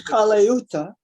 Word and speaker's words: Colaiuta: His name is Colaiuta. Colaiuta. It's hard to pronounce.